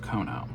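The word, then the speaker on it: Keonho: And then the last photo card is Kono. Yes, I hope I'm pronouncing that correctly. Somebody on my last corrected me and said it's pronounced Kono.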